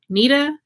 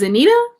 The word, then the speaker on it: Anita: i saying it right nita is anita i'm sorry i don't